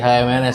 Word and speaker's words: HMNS: Bacanya bacanya bukan humans ya. HMNS ya.